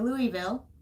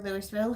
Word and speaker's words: Louisville: Morrison had invited Chisholm to Louisville, or Louisville, however you want to pronounce it. I've heard it both ways.